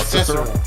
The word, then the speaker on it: Cesaro: Cedric Alexander, Cesaro. Pretty sure mispronounced Cicero. that. Cicero. Okay, Cicero.